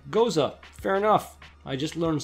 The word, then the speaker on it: Gose: Oh, I always said Gose. Goza.